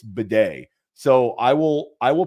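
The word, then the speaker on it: Badie: huge Fab addition Tyler batty T well it's actually pronounced Beday which who knew that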